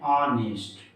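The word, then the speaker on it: honest: फिर से देखिए दोस्तों, यहाँ पे एच है, लेकिन इसे हम एच को साइलेंट कर देते हैं और एच साइलेंट करके हम पढ़ते हैं ऑनेस्ट, नेक्स्ट पढ़ते हैं।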